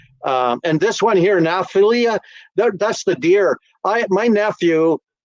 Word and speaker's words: Naphtali: I was just going to say he's pronouncing that terribly wrong. It's Naphtali.